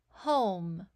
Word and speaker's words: home: Home. We hear H for the H, O for the O, M for the M, and the E is silent.